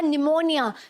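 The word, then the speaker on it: pneumonia: है ठीक है वह चुप रहता है वह साइलेंट रहेगा एन से पहले वाला पीस ठीक है जैसे आपने सुना होगा निमोनिया सबसे फेमस एग्जांपल निमोनिया राइट कि क्या है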